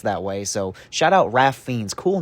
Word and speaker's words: Ralph Fiennes: stuff, and the best stuff by far is Ralph Fiennes in this movie. Just learned that his name is pronounced that way, so shout out Ralph Fiennes.